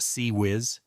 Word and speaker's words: CIWS: Advanced sensors, powerful weapons, including crown jewel of ship defense, failins close-in weapon system, CIWS pronounced CE whiz, sixb barrel, 20 mm